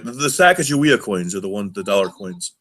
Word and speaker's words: Sacagawea: The Sacagawea coins are the dollar coins. Oh, Bob, come on, Sakakawea. They say it like that here too, DJ.